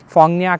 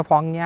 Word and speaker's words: Phong Nha: पे एक जगह है फोंग निया करके, उसकी स्पेलिंग PHONGNHA है। पहले मैं उसको फोंग ना बोलता था, बट वो फोंगना नहीं है, वो एक्चुअली में फोंग निया है, क्योंकि ना इज़ NA और ये मुझे करेक्ट